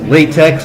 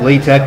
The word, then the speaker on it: LaTeX: latex I know it looks like it says latex but it's actually pronounced latex or la tech if you prefer but definitely not latex and more specifically we're here to talk about